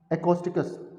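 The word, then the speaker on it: acoustics: एकॉस्टिकस word तो लिखने में ऐसा आएगा, ये लिखने में तो इसको ऐसा आएगा, लेकिन आप इसको एको ना बोल के इसको इको वर्ड प्रोनाउंस कीजिए।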